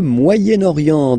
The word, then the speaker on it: Moyen-Orient: So it's interesting here because normally if you would have only this word here, you would pronounce it moyen, moyen, okay? But then as you've got this vowel after, okay, you get to make the liaison between the two. Le Moyen-Orient, Moyen-Orient, okay?